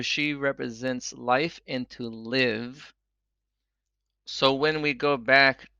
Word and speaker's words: Liv: and bet in English it comes out to be pronounced like the name live l i v live to live she represents